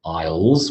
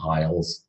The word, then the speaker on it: isle: We call them isles. They're islands. Isle of Man, Isle of Wight. Okay, the Scilly Isles. So it's just another word, and it is the same pronunciation as aisle, meaning I will, and aisle as in